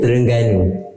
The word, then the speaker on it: Terengganu: How do you pronounce that? I tell you, Terengganu.